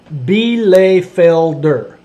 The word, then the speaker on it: Bielefelder: Pronounced Bielefelder.